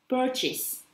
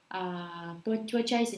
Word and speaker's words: purchase: Nhiều người đọc cái này là purchase. Rất nhiều học sinh học ở đại học của Tracy luôn, lúc Tracy dạy á, mọi người vẫn cứ đọc là cái gì purchase đó là purchase.